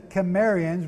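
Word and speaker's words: Cimmerians: now known as the Khmer ian's with a hard C CI mm er ia n were migrating up what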